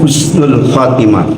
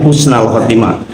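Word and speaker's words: حسن الخاتمة: doa tentang Husnul Khatimah kalau dibacanya husnal Khatimah karena itu kalau memakai ilmu nahu Allahumma inak asaluka husnal bukan Husnul Khatimah ya diitu kan Tapi kalau pembicaraan sehari-hari kita mengucapkan Husnul Khatimah itu boleh ini doanya adalah allahumma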